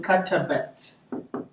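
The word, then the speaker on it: كتبت: wrote, it changes to katabat. But Yes. I just add an at. Okay. Katabat. Oh, so silence that vowel. I silent the ta. Remember how to silent? You just put a 0.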